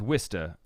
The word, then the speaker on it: Worcester: we traveled to Worcester yeah it's Worcester uh that's not it's not how it's spelled this is a lot